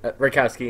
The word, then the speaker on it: Retkowski: Did I pronounce that right? Yeah, Retkowski, yeah.